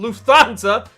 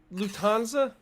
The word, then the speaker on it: Lufthansa: All right, as if flying first class wasn't fancy enough already, German airline Lufthansa now offers VIPs a specialty tray for their blank.